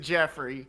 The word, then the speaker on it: Joffrey: a G oh yeah it's actually spelled like Joffrey from Game of Thrones he renounces it Jeffrey okay from the south